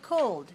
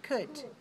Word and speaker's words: could: have ellen writing but don't pronounce the l don't say cold just say could could and would okay